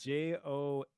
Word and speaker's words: Johari: in my head yeah the guys who invented this matrix their names were joe and harry okay so joe joe harry h-a-r-r-y as you would expect yeah but they call